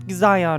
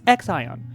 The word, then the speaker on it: Xion: It's not Xion or whatever I was trying to say, it's Xion.